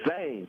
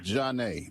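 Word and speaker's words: Zhané: It's like it looks like Zane when you look at it. You don't think of Janae. You look at it Zane.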